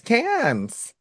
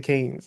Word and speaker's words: Cannes: The Yes. Canes or Cans? Cans. I always pronounce it Canes.